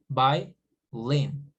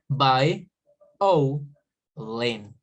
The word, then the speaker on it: violin: Okay, for example, in word violin, it may sound like it's only two words, violin, but actually we do not produce it like this. We pronounce it like by o lin.